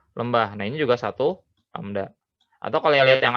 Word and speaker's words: lambda: Nah ini namanya lambda, dibacanya lambda.